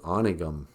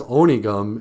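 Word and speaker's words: Onigum: that's a Minnesota thing Arnie gum I'm going out of them but it is oniy gum in the same way like in the word Ojibwe we pronounce our O's the long whole like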